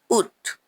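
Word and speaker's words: août: उठ उड इट in English is August again उथ in English August in the world उथ देयर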